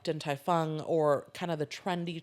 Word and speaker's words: Din Tai Fung: Din Tai Fung.